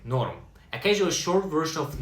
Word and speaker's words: норм: Pronounced like норм.